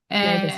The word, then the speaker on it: tinnitus: I had debilitating tinnitus or tinnitus, how do you say? Tinnitus, yeah.